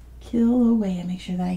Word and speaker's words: Kilauea: at all they are see it was Kilauea kill away and make sure that I get it right yes and Mana lower Kilauea Mana Loa very good